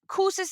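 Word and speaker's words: Kouzes: Is Kuses and Posner? Did I Yeah. say it right? Yeah. Kind Kuz and of. Posner. We sometimes don't pronounce the final two letters, but that's fine. Kuz and Posner.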